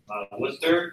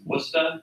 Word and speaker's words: Worcester: from Worcester. It's pronounced Worcester up there, not Worcester.